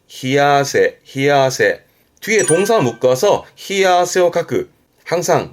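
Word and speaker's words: 冷や汗: 발음은 히아세.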